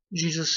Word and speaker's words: Gesù: But in Italian, his name is spelled G-E-S-U. And they pronounce his... they pronounce it as Jesu.